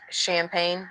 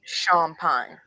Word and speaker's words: Champagne: So, my last name, it sounds and well, it looks like champagne, like the drink, but it's pronounced Sha Pine.